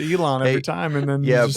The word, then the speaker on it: Elon: run it back he used to call him Alon and that's the first time I'm I'mma use